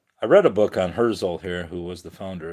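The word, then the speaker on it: Herzl: Yeah, Herszel. But it's not spelled like Herzel, like a Hurse and Nestle Crunch.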